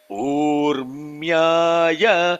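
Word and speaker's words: ऊर्म्याय: Nama Urmyaya Very good. Yeah. See now, Urmyaya, Rmyaya, Rmya is two matras because it is a long syllable.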